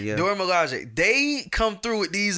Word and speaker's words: Dora Milaje: You pronounce it very well. What the Dora Milaje? The Dora Milaje, yeah. Dora Milaje.